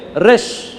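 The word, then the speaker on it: ר: draw करूंगा बड़ा draw करूंगा इसको बोलते हैं रेश रेश का मतलब क्या है हेड रेश का मतलब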